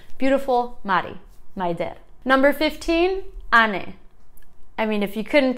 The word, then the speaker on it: Ane: it's kind of like beautiful mari number 15 ani i mean if you couldn't tell this is